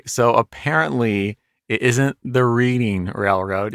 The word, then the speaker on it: Reading: Yeah, I learned, it was just dots and dashes for, it's pronounced reading, not reading.